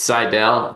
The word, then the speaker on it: Seidel: It's Seidel, kind of like, I'm sighing, but you know what?